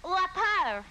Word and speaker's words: Lauper: But this is more of a New York accent than French, although some people pronounce my name La Peur.